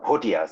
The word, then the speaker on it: Bhutia: i belong to the the bhutias or photias as it is pronounced it is a generic